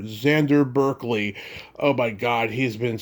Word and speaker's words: Xander Berkeley: I'm going to be interviewing Xander Berkeley, not Xander, Xander Berkeley.